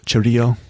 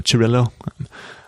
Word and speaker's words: Cirillo: It was originally developed by Francesco Cirillo, or Cirillo. I always want to say it the Spanish pronunciation, which to me looks like Cirillo or Cirillo, but I guess in Italian, he's Italian, and I think it's Cirillo.